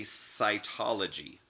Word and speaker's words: cytology: Now, if it sounds like the letter S or S, Then it could be cytology. Cytology is spelled with the letter C.